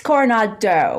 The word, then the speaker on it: Coronado: apologize if i didn't it's coronado with like a oh sound at the end instead of people or